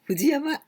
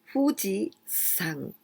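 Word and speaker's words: 富士山: for example fuji yama we don't pronounce like this fujiyama never we say fuji sang with this kanji the same country right means mount fuji never never never say fujiyama okay is right so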